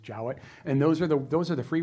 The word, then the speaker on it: Jowett: Jowett, I guess it looks like Jowett, but it's Jowett. Apparently, it's pronounced Jowett.